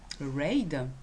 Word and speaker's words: Reid: là le fondateur c'est stephen reid je veux quoi ça se prononce ride et y publient sur